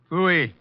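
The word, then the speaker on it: pfui: Fooey. What's that? Fooey. It can be spelled in several ways. I spell it P-F-U-I. Fooey.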